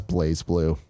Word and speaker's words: BlazBlue: Nanobiologist says BlazBlue is pronounced as Blaze Blue.